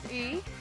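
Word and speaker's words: 鱼: word fish, which is yi. So the word fish, it has the same pronunciation as the word surplus, which is another yi as well in Chinese.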